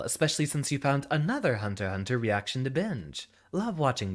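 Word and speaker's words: Hunter × Hunter: you're supposed to pronounce the x is silent you could say could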